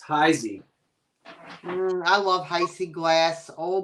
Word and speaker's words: Heisey: like that beautiful it's heisey I love Heise glass oh boy potato potato tomato tomato well if you're pronouncing it the German Way it's the Z so high Z but this was black